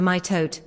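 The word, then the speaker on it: mitote: Your whole mind is a fog which the tool text called a myote pronounced m i h t oe e t.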